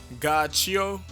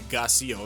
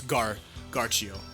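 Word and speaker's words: Ghiaccio: It's not gonna be Gacio, it's gonna be like, because Narancia has it's 2 C's I guess, but it'd be Narancia, so it's Garchio.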